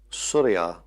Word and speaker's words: Surya: The word is not quite the same. Surya as the sun has the accent on the first syllable, but Surya is the daughter of the sun.